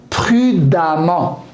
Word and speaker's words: prudemment: J'ajoute E2M ENT et je prononce A au lieu de E. Récent, récemment. Patient, patiemment. Prudent, prudemment.